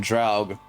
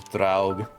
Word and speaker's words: Draug: Japanese pronunciation Draug. The rest of the world. At least the English pronunciation of that was Draug. And there's like Doga. I mean, they're not too different. It's just different enough.